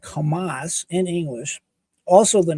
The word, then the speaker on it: Hamas: But it is pronounced like Hamas in English, also the name of the Palestine terror organization.